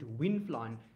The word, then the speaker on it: Wynflon: But so down here in South Africa, we actually we found out of a brand named Winflon. It's spelled WYNFLON. So it's Winflon.